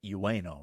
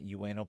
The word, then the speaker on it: Ueno: But I believe you pronounce it Ueno, right? Ueno Park? Think so. Yeah, it's spelled Ueno. So I'm going to go with Ueno.